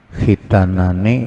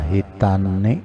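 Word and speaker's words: خِتَانَانِ: Khitanani ini itu bacanya itu. Itu bacanya khitanani, kada hitani, kada itu.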